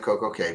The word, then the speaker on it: Coco Cay: Says Labadee is a wonderful low-key version of Coco Key. K. I've been so good about calling it Coco Cay because that's what Royal Caribbean calls it on the hold music.